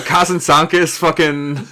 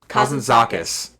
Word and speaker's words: Kazantzakis: Uh But Kazantzakis couldn't could never. Uh I've mispronounced that. Kazan- Kazantzakis.